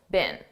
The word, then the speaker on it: been: Now notice I said been a very unstressed been. This is how we pronounce the past participle of the verb be been in American English. I don't speak British English, but I believe in British English they pronounce it more stressed been. But in American English we don't do that.